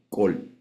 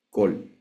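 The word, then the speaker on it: קול: Lo único que, por razones que nadie sabe, en el tiempo fueron viajando algunas palabras que esa letra la pronunciaban los judíos como O. Este es un ejemplo. Entonces nosotros la vamos a leer como Kol.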